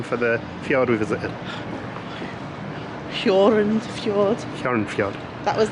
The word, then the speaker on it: Hjørundfjorden: What was the pronunciation for the fjord we visited? Hjørundfjorden.